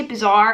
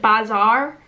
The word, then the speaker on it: bazaar: I say bizarre as in like strange occurrence, but it's like bazaar.